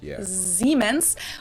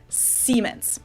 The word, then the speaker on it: Siemens: siemens while english speakers pronounce it with a voiceless s siemens in english that's a pretty significant difference and it's usually indicated by using the letter z which makes a z sound or an s which makes a s sound true i noticed that